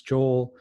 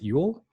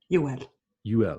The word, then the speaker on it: Joel: though, like Joel Kinnaman, who you don't pronounce Joel, you pronounce it Yule. Ul. You pronounce every letter like very, very, very much. You stretch it out. You're like Ul.